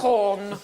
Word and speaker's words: Gauguin: Oh, it's not pronounced Gauguin. Hey. You've got two G's. at least. Gauguin.